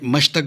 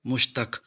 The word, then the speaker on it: مشتق: ہے اس میں مشتق۔ بعض لوگ اسے مشتق بولتے ہیں اور بعض مشتق، جبکہ اس کا صحیح تلفظ ہے مشتق۔ مشتق کے معنی ہے